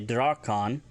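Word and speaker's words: drakaan: If you want to talk about a cannon, it's a Drakan, D-R-A-K-A-A-N, which is a cannon or heavy gun referring to ship's weaponry.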